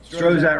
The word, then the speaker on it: Strzok: Strozak himself, Strozak rhymes with Prozac.